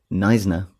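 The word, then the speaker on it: Knysna: about Bradon brodon damaran otherwise known as the nna chameleon with a silent k nna chameleon um which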